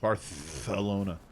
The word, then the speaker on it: Barcelona: no no barcelona yeah that's why i said barth the lona just like that that's how they say it locally oh i know all